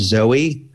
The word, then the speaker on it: Zoi: amazon it's a sherpa named zoe and zoi is how her name is spelled and it is a